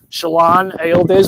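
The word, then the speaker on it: Şilan Ayyıldız: So I think between Shalon Aildiz, we learned that's how you pronounce her name.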